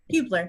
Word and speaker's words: Hubler: meant to ask you this before did I pronounce your last name correct ooblar yes okay okay because you know you don't